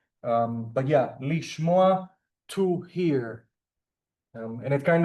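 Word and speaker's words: לִשְׁמֹעַ: But remember, lishmoa, it's one of those rare examples that the prefix to phonetically receives an E sound. But yeah, lishmoa, to hear.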